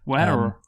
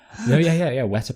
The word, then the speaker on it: Weta: Of course, an American wouldn't understand that because they would pronounce the R in Weta. Wetter. Yeah. Weta Productions, New Zealand based.